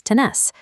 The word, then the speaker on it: tenés: The conjugation shifts the stress to the final syllable. By dropping the R and adding an S, tener becomes tenés.